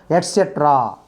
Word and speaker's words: etc.: The rest of the things, similar things, further similar items, we should use etc. We should study the word second syllable to be stressed.